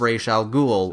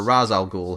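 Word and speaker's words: Ra's al Ghul: idea of using the blood of Ral ghoul or razal ghoul however you want to pronounce it very conveniently one of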